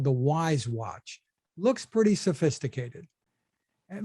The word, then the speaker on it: Wyze: And for only $20, there's one called the Wise Watch. Looks pretty sophisticated. It looks great, but it sells for only $20. It's spelled WYZE.